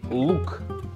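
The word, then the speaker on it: лук: L'oignon, c'est quand même un mot un peu spécial parce qu'en russe, l'oignon, c'est dit louk. Et ben moi, avec mon français médiocre, comme vous l'entendez tout le temps, je prononce pas très bien parfois le prénom Luc et je l'appelle Luc.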